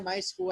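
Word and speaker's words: MySQL: dibuat menggunakan May Well my SQL tulisane bacanya my school Hai jadi aplikasi atau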